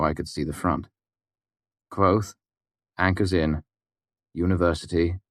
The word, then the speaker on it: Kvothe: Kvothe, Anchor's Inn, University, 2 miles west of Imre. Berenet Baron, Central Commonwealth. It was Denner's handwriting. "It's Kvothe, actually," I said absent-mindedly. "The E is silent."